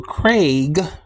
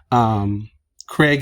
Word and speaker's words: Craig: Craig is actually a common name here in America, and most likely he pronounced, I'm sorry. It's most likely pronounced by most people like C-R-E-G, and he should respect that.